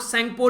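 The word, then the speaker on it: Tsangpo: फिर इसको आप लोग सेंगपो रिवर के नाम से भी जानते हैं, इसमें टी साइलेंट रहता है। ये वो रिवर है जिसको यारलंग ज़ेंगपो या फिर सेंगपो बोला जाता है तिब्बत वाले रीजन में, ठीक है।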